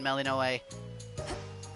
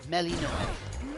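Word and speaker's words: Melinoë: I don't honestly think most of these dresses look bad on Melinoe. No. Nope, Melinoe. I got the pronunciation wrong a couple of times too.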